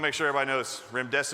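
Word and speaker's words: remdesivir: make sure everybody knows Rim dese rhymes with run death is near veery means choose her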